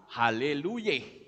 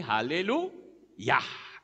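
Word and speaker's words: Haleluyah: logikanya orang akan berkata Haleluya karena depannya yeah tapi faktanya bukan Haleluya tetapi halelu yah yah itu kependekan dari Yahweh kemudian kata gold itu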